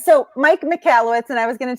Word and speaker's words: Michalowicz: thanks for the introduction all right so Mike McCalla wits and I was going to tell you how it's pronounced it's pronounced McHale it's you know they